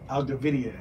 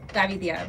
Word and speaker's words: Gavidia: Gavidia, is that how you say it? Yeah, it was Gavidia, but most people can't say that, so Gavidia.